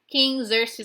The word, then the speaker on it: Xerxes: King Xerxes. I know it looks different than how you pronounce it, but it really is King Xerxes.